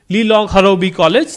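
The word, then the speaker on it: Lilong Haoreibi College: Finishing runners up is Lilong Harobi College, that's how you pronounce it, yes.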